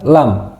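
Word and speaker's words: لام: Yang selanjutnya adalah lam. Lam. Lam. Lam. Jadi, ee pangkal lidah itu ee menyentuh di langit-langit mulut.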